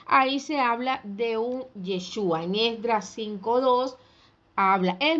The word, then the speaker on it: Yeshua: en la vocal a y el nombre del mesías para muchos y voy a hacer la aclaración es yeshua con acento en la u que significa él salvará